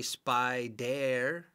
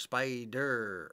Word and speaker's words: spider: another e okay now really this is a silent E you don't say spy dere okay it goes right into the earth spider or you skip right over the e a so if it's a silent E again it's going to affect the vowel before it so it's spy either spider I know you know how